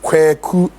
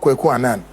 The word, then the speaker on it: Quan: My name remains Quan, not Quuan. Learn to pronounce it.